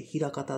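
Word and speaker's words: 枚方: けども、漢字は枚数の枚枚と、あと、方向の方と書いて、枚方って読むんですね。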